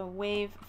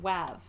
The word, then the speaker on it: WAV: And the type of file that it is going to be, let's see, we have of type, it's a WAV file, or WAV, depending on your pronunciation.